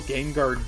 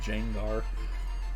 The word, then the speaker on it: Gengar: Like every time I talk to Ryan in the Psychic J's Discord, I'll just like intentionally say Jangar and put a J there.